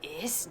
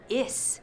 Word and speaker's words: is: Is no. Así no. No se pronuncia is. Se pronuncia is. Z, como la mosca.